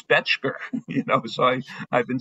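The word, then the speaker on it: Bettger: For all the time I've been promoting that book, I finally found out that an old timer said, "Gilbert, his name isn't Betger, it's Betchker."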